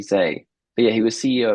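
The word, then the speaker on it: Hsieh: Yeah, his surname is Hseih. And I think you say his name Tony Zay.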